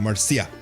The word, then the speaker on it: Marcia: Every person I've ever encountered, that name would be pronounced Marcia. Not Marsha, but Marcia.